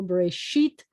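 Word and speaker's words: בראשית: first two words are bereshit and you notice that i said i accented this syllable brace sheet and bara i acts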